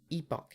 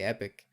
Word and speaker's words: epoch: want happy epic data oh yes it is epoch day i always say epic um but i know it's saying it wrong but yeah it's payday